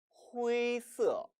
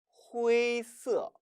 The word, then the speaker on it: 灰色: 이 발음은 주의하세요. 첫 번째 F 발음이 나와서는 안 됩니다. 깨끗한 후이라고 발음해야 되고요. 두 번째 후이가 아니에요. 후이가 아니라 후 모음과 A 모음이 합쳐진 복모음이라는 겁니다. 따라서 후이, 후이서, 후이서라고 발음함에 주의하세요.